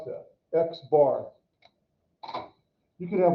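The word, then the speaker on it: x̄: This means we call it x bar. So that's x bar. That's how we pronounce that, x bar.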